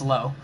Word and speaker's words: Lowe: Lowe is a family member of mine's last name, so it's Lowe.